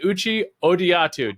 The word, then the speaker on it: Uche Odiatu: I'm excited to welcome onto the program a new friend of mine, none other than Uchi Odiatu. Did I get that right? I know you told me the pronunciation.